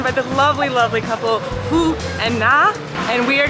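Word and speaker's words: Phước: My name is Phuc. P-H-U-O-C. That is my name. P-H-U-O-C. Or just call me Mr. Happy. No, because some of the reason when you pronounce it wrong, it's bad thing, right?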